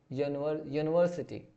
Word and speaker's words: university: यहाँ पे यू तो आया लेकिन इसका प्रोनाउंसिएशन क्या आ रहा है, य आ रहा है, यू, यूनिवर्सिटी, तो यहाँ पे ए का यूज करेंगे।